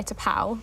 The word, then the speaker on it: T'Pau: THEY LAUGH Well, excerpt three is China In Your Hand by T'Pau. Yes. Not sure if I pronounced that right. Yeah. No, that is how you pronounce it.